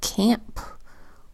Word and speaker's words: camp: We've got the hard C k because it comes before an A. The A makes its short A sound a because it's in a closed syllable that ends with the consonant letter P.